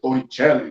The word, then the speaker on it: Torricelli: Pronúncia Torricelli, né, os italianos.